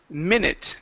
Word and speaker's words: minute: to um the word minute give me a short I sound instead of saying me it's m minute minute minute minutes okay good